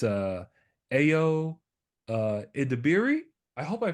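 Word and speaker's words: Ayo Edebiri: I pronounced her name just right it's uh AO uh iiri I hope I pronounced your name right I think you I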